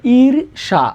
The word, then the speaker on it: ঈর্ষা: ইর সা। উচ্চারণ কি হবে?